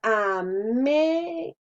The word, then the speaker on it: América: Si nosotros al decir América, sabemos que la mayor fuerza la hacemos en me.